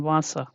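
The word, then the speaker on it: Wasser: And here if we can think of this example, very simple one, Vasa, yeah. So here it is like wa, yeah, Vasa, Yeah, so always we can take another example as well, weg.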